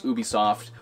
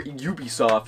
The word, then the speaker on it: Ubisoft: think next up was be soft or Ubisoft if you want to say it that way I'm pretty sure be soft is a correct like French pronunciation but everyone says Ubisoft I don't know French people say I've always said be soft I don't care don't